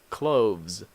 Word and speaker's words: clothes: one what you wear clothes this T age here is the sound and these s has the sound of Z clothes clubs okay this one